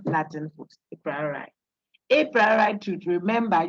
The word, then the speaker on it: a priori: He says the a priori should be pronounced a priori.